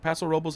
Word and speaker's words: Paso Robles: Paso Robles, how you want to pronounce it?